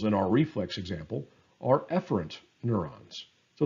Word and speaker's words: efferent: The opposite is efferent, sometimes pronounced efferent. I'll say efferent.